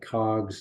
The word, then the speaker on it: COGS: of goods sold as some people call that cogs it's spelled out c-o-g-s cost has been sold gross